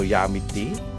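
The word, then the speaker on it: Yau Ma Tei: Gana ng yummy tie o yummy tea? Yummy tea.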